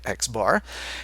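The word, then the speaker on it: x̄: the bar on top or pronounced not surprisingly xar and that is the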